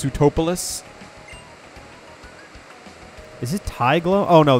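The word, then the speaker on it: Sootopolis: It's pronounced Sutopolis.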